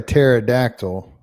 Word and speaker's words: pterodactyl: why can't you hear a pterodactyl go to the bathroom? Because I don't know. Because the P is silent.